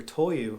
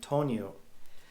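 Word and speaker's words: 灯油: and ask for you should be asking for toyu which is kerosene but i've heard a foreigner saying tonyo so you have to be careful with the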